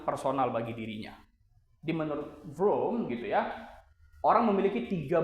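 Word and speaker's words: Vroom: Nah, cara bacanya ini kayak bunyi kendaraan ya. Vom VR VM kan gitu.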